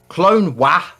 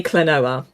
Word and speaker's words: Klonoa: 59 is asking uh is it true you pronounced the game clone W similar to how you pronounced kinoa oh gosh yes cuz we having a chat about this in quantum's uh chat Tuesday night um I say cloa rather than like quinoa or clonea but yeah but if you want to pronounce it clone W Markman go for it